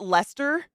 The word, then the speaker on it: Leicester: Is it Leicester? Is that how you pronounce it, Anubis?